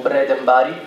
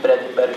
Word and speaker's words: Bredenberg: Then I discovered that the correct pronunciation is Timo Bredenbari, and I call it Bredenberg for 2 years.